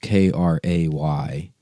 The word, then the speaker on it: kratom: Kratom is pronounced Kraytum. Kratom. I guess that's how you spell the pronunciation.